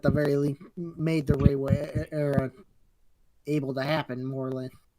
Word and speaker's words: Reiwa: It's I think it's pronounced Reiwa era. Reiwa.